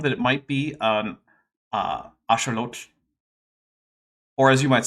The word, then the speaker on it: axolotl: I've been informed that it might be an axolotl, or as you might say, an axolotl.